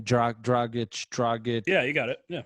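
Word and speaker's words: Dragić: And they have I never pronounced the name, Dragic.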